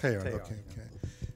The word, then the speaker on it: Teilhard: Am I pronouncing it correctly? It's close. Teilhard, I guess. Teilhard.